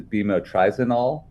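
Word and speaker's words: bemotrizinol: How do you pronounce that? Yes, many of these sunscreen ingredients have complicated names. This is bimotrizanol.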